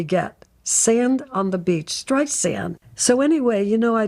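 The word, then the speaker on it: Streisand: frustrated with Siri cuz Siri would say her name is Barbara stri xand instead of sand it would say Barbara stri zand barand as opposed to stri sand it's stri sand like sand on the beach now how simple can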